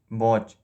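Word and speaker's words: watch: 27 डॉट इज the silent letter in वॉच, इसका जो B option है टी इसका साइलेंट लेटर है।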